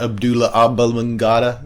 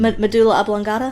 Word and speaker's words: medulla oblongata: Put my mouth on your Abdullah oblongata. I'm gonna... How do you say it? Abdullah oblong... Medulla oblongata? Yeah, there you go.